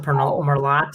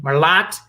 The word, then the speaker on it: Merlot: I pronounce it Merlot as I like Merlot, but I pronounce it hard T. Merlot, Columbus Barrel Company.